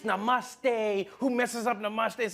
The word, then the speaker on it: Namaste: on like dude it's not Nam it's Namaste who messes up Namaste